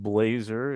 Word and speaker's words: Blaser: Uh having a last name of Blazer is pretty good here in Portland if you follow the NBA. Um but it's spelled with an S instead of a Z.